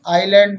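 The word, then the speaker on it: island: एस कब silent होता है? यदि आई और एल के बीच में एस आता है। देखें एग्जाम्पल्स जैसे आइलैंड मीन्स टापू, आइल मीन्स द्वीप, और AISLE आइल मीन्स गलियारा, डेबरी मीन्स मलबा।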